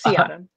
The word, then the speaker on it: Seahdom: And every single time I say your name out loud, Seahdom, I always think, is it Seahdom or Seahdom? So that's my first question. It's Seahdom.